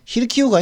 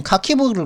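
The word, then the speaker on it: Харків: 예, 히르키우가 이게 카키브를 갖다가 히르키우라고 그러더라고요. 그죠? 미국식 발음은 카키브인데 이게 히르키우.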